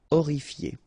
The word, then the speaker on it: horrifié: Same thing here. You don't pronounce the H. Horrifié.